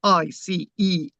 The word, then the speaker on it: Iceni: And the reason why I'm calling that Iceni, which is spelled Iceni, Iceni. So not the Iceni. Some people say this, the Sinai, pronounce the C as a K, Iceni.